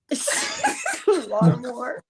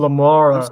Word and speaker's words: Lamara: Lamar. Did I say your name wrong? Yes. How's it pronounced? Pronounce it for Lamara. me. I'm Lamara. sorry.